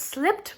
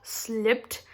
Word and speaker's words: slipped: this the ed of slipped is pronounced as the and the ed is not pronounced as separate syllable okay it's not slipped